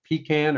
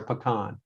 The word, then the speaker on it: pecan: you on the spot how do you pronounce that pecan or pecan it's however my customer wants to pronounce it i like that okay either way it depends on what part of the state location you are they say down east pecan okay fantastic all right